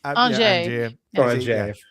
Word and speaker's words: Angier: Angier. The proper pronunciation.